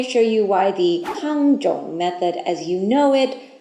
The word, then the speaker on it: Tangzhong: Yudane and Tangzhong are simply the same characters pronounced differently in different languages. In Chinese, Tangzhong, and in Japanese, Yudane.